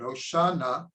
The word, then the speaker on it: Hoshana: hoshanah so na hosha it's actually two words we say it as if it's one word hoshanah but it's really two words hosha now please say na means please please save na equals 51.